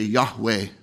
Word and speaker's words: Yahweh: We add vowels to it and say Yahweh, the name of God.